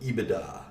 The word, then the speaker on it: EBITDA: sometimes call this ebitda that's how you pronounce it ebitda it's earnings before interest